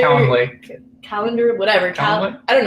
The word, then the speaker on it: Calendly: I know everybody uses Candidly. I don't know how to pronounce it. Not Calendar. Calendly.